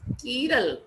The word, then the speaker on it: chiral: And an object having no plane of symmetry is called dissymmetric or chiral, pronounced as chiral, Greek word meaning hand.